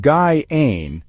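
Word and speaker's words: Gjáin: Jane, pronounced Guy-Ain, is a hidden valley that local Icelanders consider one of their country's greatest secrets.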